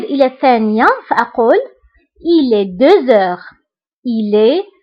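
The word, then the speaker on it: deux heures: فبالنسبة هنا أيضا غتلاحظوا أنني قلت 2 heures هنا نطقت لا لتر زد مع أنها ما كايناش. pourquoi؟ باسكو عندي h باسكو عندي لا لتر x كتبعها h دونك كندير لا ليزون وكنقرا 2 heures 2 heures. d'accord. كنطق لا لتر زد مع أنها ما مكتوباش باسكو درنا لا ليزون.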